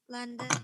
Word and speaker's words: London: Nah, kalau kita berbicara tentang kata London, kita bisa lihat bahwa London itu punya 2 syllable. Ya, yang pertama adalah lan, yang kedua adalah den.